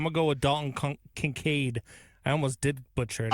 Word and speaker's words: Kincaid: I'm going to go with Dalton Kincaid. I almost did butcher it. I called him Concade. Dalton Kincaid.